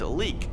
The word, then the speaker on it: Leyak: Moving into number 4, we have the Leyak, or in Indonesia, people call it leek. They don't like to pronounce the Y.